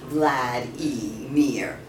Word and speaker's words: Vladimir: Howard repeated the name and sounded out each syllable separately. Vlad-e-mir.